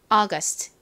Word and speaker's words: August: 번 더 해 볼게요 자 여러분 강세가 어디에 있을까요이 앞부분 어 부분에 확 강세를 주셔서 발음을 해 주시면 더 자연스럽게 들립니다 뒷부분에 스트이 부분은 바람이 훅 빠지면서 약하게 소리나요 해 볼게요 다시 8월 August 좋습니다이 단어 역시 한국식으로